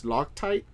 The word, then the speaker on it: Loctite: Loctite. Yes, Loctite?